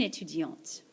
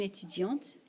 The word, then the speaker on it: étudiante: Une étudiante. Une étudiante. That's a female student. Again, this letter is silent. Un étudiant, une étudiante. Because of the E, the T gets pronounced here.